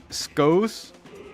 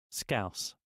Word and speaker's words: Scouse: How do you say it? Skos? Skoker? Skoker? Skoos? Skoos? How to pronounce? I'm gonna... Scouse. Scouse. They're saying scouse.